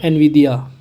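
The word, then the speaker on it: Nvidia: तो आपका होगा एनविडिया। एन यहाँ साइलेंट होती है एक्चुअली, तो विदिया से बोलते हैं।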